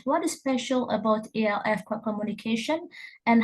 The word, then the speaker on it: ELF: Well, when I became interested in English as a lingua franca, or ELF, so I will pronounce it ELF.